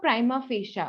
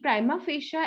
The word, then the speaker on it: prima facie: so that is the prima facia okay i tried to remember prime face you okay so there is